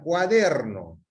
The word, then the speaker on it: cuaderno: Ok, entonces acá les decía, cuaderno. Cuando yo voy leyendo la palabra cuaderno, la mayor fuerza de voz va increciendo. Cuaderno. Bajo. Entonces, ¿dónde está la mayor fuerza de voz? Está en la sílaba der.